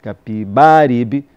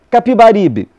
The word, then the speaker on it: Capibaribe: Capibaribe, com A, como sempre tinha ouvido dizer no Recife. Fiquei perplexo quando Veríssimo comentou, para grande divertimento da turma: bem se vê que o senhor é um pernambucano. Pronunciou pernambucano, abrindo bem o E. E corrigiu: Capiberibe.